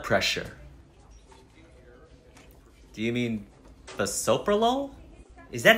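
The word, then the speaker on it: bisoprolol: and are you on any medications I'm on basololo for my blood pressure do you mean the soprolol is that how you say that yep anything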